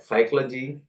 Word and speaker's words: psychology: also start from P but p is silent like psychology pneumonia you a lot of